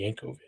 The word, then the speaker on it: Jankowicz: This is Nina Jankowicz. For some reason, she doesn't even have her name pronounced with the original accent, like if that were the case, it'd be Yankovic. To run this disinformation governance